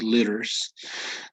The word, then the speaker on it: liters: Would be liters. Notice also pronunciation, the T turning into a D. So it would be liters.